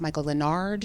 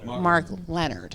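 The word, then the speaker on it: Mark Lenard: research and and it's I'm gonna pronounce his name wrong but I think it's Michael Denard who had played this character mark Leonard okay I love this performance and I watched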